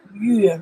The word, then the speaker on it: 月: Month is the character we pronounce the yue, right?